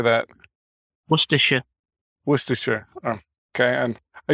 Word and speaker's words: Worcestershire: Now, I used to live in New Hampshire, and they used to say Worcestershire sauce. How do you say that? Worcestershire.